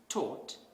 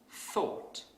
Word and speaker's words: thought: So a non-native speaker might pronounce this word as taught instead of thought.